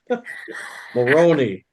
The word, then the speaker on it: Maloney: Maloney rhymes with baloney.